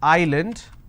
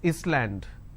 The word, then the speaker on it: island: solution all right but if I have a word which is Island I don't pronounce this as Island so s is silent here okay for example if